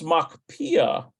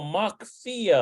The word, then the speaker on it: מקפיא: It's a pay. Put that dagesh in there. So basically, this is one of the twin letters. With a dagesh in there, it equals P sound. Without the dagesh, it equals F sound.